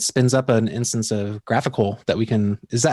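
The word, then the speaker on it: GraphiQL: we can it spins up an instance of graphical that we can is that how you pronounce it graphical right so we can query our data okay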